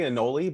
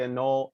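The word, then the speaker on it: Anole: an i don't know i say annoli but i guess some people say a null i'm just the reptile writer person i guess um a little like cannoli now i'm hungry yeah i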